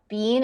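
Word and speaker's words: Michael Biehn: Beal he was also in Tomb bean bean bean is that how you say it yeah oh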